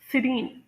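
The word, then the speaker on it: serene: यानी पुरसकून हो और इसकी प्रोनंसिएशन होगी सिरीन सिरीन और ये British pronunciation and American pronunciation दोनों में सेम होगी।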